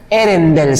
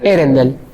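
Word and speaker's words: Earendel: No sé cómo se pronuncia. E-A-L-E. De vuelta. Mejor. Bueno. Erendel se llama. Erendel.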